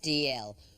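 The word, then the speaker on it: Dalziel: It's written D-A-L-Z-I-E-L, but pronounced DL.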